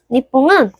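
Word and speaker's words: にっぽん: 니뽕은 일본을 강조해서 말하는 말입니다. 원래 일본 같은 경우는 니홍이라고 발음을 해요. 근데 얘를 강조하면 니뽕이 됩니다.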